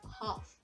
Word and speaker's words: half: of this word as half not as half because l is silent in it so here we move